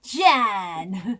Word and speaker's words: John: It has an O in it, Chris. John. Pronounce it right. You sound Dutch.